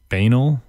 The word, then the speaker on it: banal: Some pronounce it banal, banal, whatever. There's a bunch of different pronunciations. It doesn't really matter. I like banal, so I go with banal.